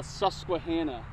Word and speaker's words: Susquehanna: right native american name it's called the susquehanna susquehanna he was close very good it's this